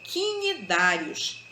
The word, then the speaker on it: cnidários: são os cnidários tá é a pronúncia dessa palavra aí é cnidários intimidades também são animais